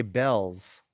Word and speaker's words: Beals: pronounce it yeah yeah there's a store out here that looks like it's Beal's b e a LS LS b e a l LS yes but they say Bells which is weird oh